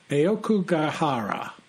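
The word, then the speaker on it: 青木ヶ原: In Japanese, and I'll do my best Japanese pronunciation, it's known as Aokugahara, also known as the Sea of Trees.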